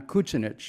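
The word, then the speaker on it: Kučinić: know my grandfather John Koontz Enosh because that's how they pronounce the name in Croatia came from an area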